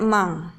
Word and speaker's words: among: the book a-trak kemudian Among Among bacanya emang emang the box Apa bedanya